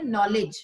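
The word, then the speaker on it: knowledge: की एक शब्द आहे नॉलेज ठीक आहे ना तर नॉलेज मध्ये स्पेलिंग जी असते ती के एन ओ डब्ल्यू एल इ डी जी इच्यामध्ये के सायलेंट असतं अशाच प्रकारे पहा नो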